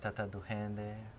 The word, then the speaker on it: Tata Duende: This one they call the Tata Duende. Tata Duende. And some people pronounce it Tata Duende or just the Duende.